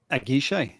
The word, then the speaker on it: Aguiche: Matt, tell us how we pronounce this. Aguiche.